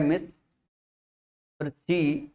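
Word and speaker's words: mischievous: एक है मिस फिर ची। ठीक है ना? फिर वी ओ यूएस ये वाला सेक्शन है। वी ओ यूएस। तो इसमें तीन सिलाबली है तो मिस है ची है पुस है अब स्पेलिंग ध्यान रखिएगा यहां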